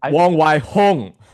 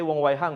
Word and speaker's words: Wong Wai Hong: Let me go ahead and give you an My example. pronunciation is Hong. Wong Wai Hong. Yes, Wong Fei because Hong. Wong. I understand why you say Wong Wai Hang, because Hung, right?